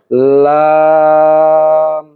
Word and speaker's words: লাম: এই লাম উচ্চারণ করতে হলে আপনাকে জিহ্বার আগার কিনারা উপরের দাঁতের মাড়ির সঙ্গে লাগাতে হবে। অর্থাৎ জিহ্বার আগাটা সামনের উপরের মাড়ির সঙ্গে লাগাতে হবে। তাহলে লাম উচ্চারিত হবে। আমরা উচ্চারণ করি। লাম লাম এরপর যে অক্ষরটি রয়েছে সেটি হলো মিম।